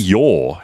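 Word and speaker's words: Yaw: Lee Yor. His real surname is Yor? It's Yor. As in Y-A-W.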